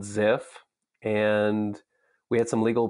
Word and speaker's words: Zeff: And so more recently, you were also the co-founder of zeff.ai or zeff.ai, an AI company. First of all, how do you pronounce it properly?